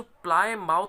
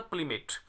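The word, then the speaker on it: Plymouth: और यदि हम इसको ट्रांसक्राइब करें तो इसका इंग्लिश जो प्रोनाउंसिएशन होता है प्लीमेट।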